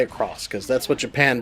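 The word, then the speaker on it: Sengoku Basara X: and no not X though it shows an X you don't say it like X you say across because that's what your pan does because it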